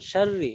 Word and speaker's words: شر: বিসমিল্লাহির রহমানির রহিম কুল আউযু বিরাব্বিল ফালাক মিন শাররি মা খালাক মিং শাররি শিনের উচ্চারণ ক্লিয়ার হতে হবে, মিং মিং শাররি ওয়া মিং শাররি ومن